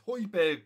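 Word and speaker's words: Højbjerg: I keep calling him Hoiberg. It's Hoiberg, Brad.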